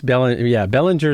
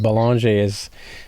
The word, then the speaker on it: Belanger: Well, it's Belanger is how the Americans say it, but Belanger is how we Canadians.